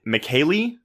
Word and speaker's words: Michele: So is it Michele? Yeah. Oh, fuck yeah. It's spelled like Michelle. It's Michele either Soavi, like Rico Soavi, but like Italian, or Soavi. I think Soavi. Yeah, sure. So Michele Soavi.